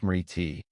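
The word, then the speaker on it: smriti: The foundation of all yogic practice is awareness known as smorti pronounced smiti which means mindful remembrance and present awareness.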